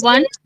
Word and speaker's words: one: Similarly, number one. Okay? Though it starts with O, it has got the sound of W.